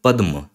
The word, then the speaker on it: पद्म: इस शब्द को देखिए इसको बोलेंगे पद्म क्योंकि क्या है ये ये द है और द के साथ म जुड़ा हुआ है पद्म क्योंकि पूरी लाइन खींच